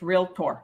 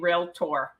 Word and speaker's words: Realtor: so anyway you're gonna learn from me it's real tour all right number 40. i saw a guy jokingly say the second a is silent oh really he must have been joking because there's no a in real tour okay that's funny you